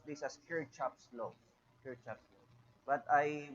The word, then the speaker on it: Kirchhoff: developed by the german physicist named gustav robert kirchhoffs okay how do we pronounce this in the philippines we pronounce this as kirk chops laws per chapter but i watched some lecture